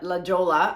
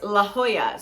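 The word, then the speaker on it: La Jolla: and told me that I was pronouncing La Hoya wrong um I called it la la laola I don't know I've never been so I don't know but it's La Hoya so thank you for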